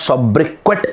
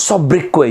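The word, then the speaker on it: sobriquet: mark my words s-o-b-r-i-q-u-e-t the pronunciation of this word is not sub-briquette it is what is saw brickway your nickname i wanted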